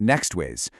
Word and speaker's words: NeXways: And that's pronounced Nextways.